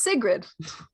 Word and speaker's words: Sigrid: oh that's just oh it's very basic it's sigrid oh yeah yeah yeah